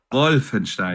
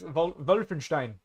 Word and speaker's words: Wolfenstein: wolf WF w Stein Wolfenstein wenin yes I know with a V the only word I'm going to pronounce during the podcast correctly right yes wulfenstein um but yeah outside